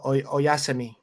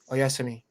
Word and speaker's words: oyasumi: Oyasumi. Oyasumi. That's how you say it. Good night. Oyasumi is good night. Oyasumi.